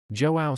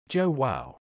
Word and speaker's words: João: his new Portuguese name that J is like a soft G sound which is easy if he pinches his nose he can make the AO sound close enough it sounds like ow but different joow almost there joa